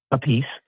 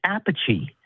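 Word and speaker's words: Appice: he he pronounces it uh a piece. Okay. No, he's he's Carmine a piece. Yeah. His brother Vinnie pronounces it Apache and their father pronounces it a third way.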